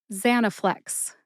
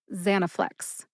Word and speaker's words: Zanaflex: But I personally tend to emphasize that first syllable, za. See if you can hear any emphasis when I say it again. Zanaflex. Zanaflex.